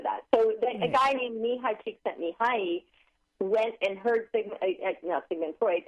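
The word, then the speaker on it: Mihaly Csikszentmihalyi: Can you pronounce his name again for us? Mihai Csikszentmihalyi.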